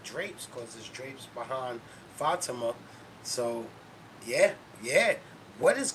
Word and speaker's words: Fatima: crushing me in the comments about saying her name wrong. It's Fatima.